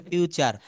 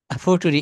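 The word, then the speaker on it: future: ইউ টি ইউ আরই কিন্তু এটা বলতে হবে ফিউচার এটা হ্যা এটা ফুটুরি আচ্ছা না এটা হবে ফিউচার যাই হোক এটা আমারও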